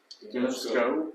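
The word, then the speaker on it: γινώσκω: Gnosko.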